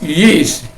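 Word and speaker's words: γῆς: en urano ke epitis yis." Ya, G itu bertemu dengan Ipsilon, ya, bertemu dengan Ita, bukan Ipsilon, bertemu dengan Ita, itu dibacanya menjadi Y, bukan G, jadi Yis.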